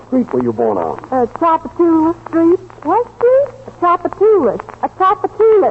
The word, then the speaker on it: Tchoupitoulas: Tchoupitoulas Street. What street? Tchoupitoulas. Tchoupitoulas. Stop, Esther. Gracie, Tchoupitoulas is a very famous thoroughfare.